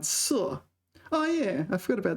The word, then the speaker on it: 塞: In 堵塞, it's pronounced 塞.